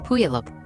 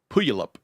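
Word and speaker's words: Puyallup: A few days later, he took his sons to Puup, Washington to stay with his father, Steven.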